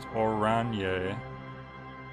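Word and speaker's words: Oranje: Orange is pronounced Oranye.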